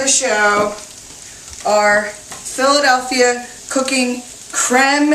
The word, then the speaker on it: creme: Our Philadelphia Cooking Creme is really the way this should be pronounced, like creme fraiche or creme brulee, but it's so thick and creamy and delicious that I say cream.